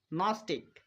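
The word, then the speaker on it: gnostic: যাক ট ন নোম নস্টিক প্রত্যেকটা উদাহরণের মধ্যে এবার আমরা শব্দের শুরুতে জি এন খুঁজে পাচ্ছি। তাই এখানে আমরা জি এর উচ্চারণ করবো না। জি কে সাইলেন্ট রাখবো। তো আশা করি এই নিয়মটা সবারই মাথায় থাকবে।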